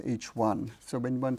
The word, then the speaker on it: HI: the Roman number one and it's pronounced as H1 so when one says